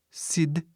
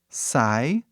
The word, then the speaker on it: side: perde seu som, não faz som nenhum, aí fica sid, né, só aquilo. Aí, transfere para cá. E ele fala seu nome. Qual é o nome dessa letra? O nome é I. Aí a pronúncia vira sai.